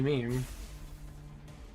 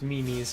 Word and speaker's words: meme: friend and he's like it's not pronounced mimes and I'm like what it's not it's not called mimes I thought it was mimes it's like MIM me twice and it's like no it's meme it's not it's not it's just